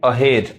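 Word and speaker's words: ahead: इसको एहेड नहीं, अहेड, अहेड।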